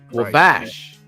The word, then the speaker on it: Wabash: Did I say it right? Wabash. Wabash. Wabash. Bash. Yeah. Oh my God. Like Basham. Wabash. We're gonna Like bash.